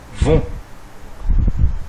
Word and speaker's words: vont: on obtient les gens vont attention lutter à la fin est muet et ne se prononce pas voilà cette leçon est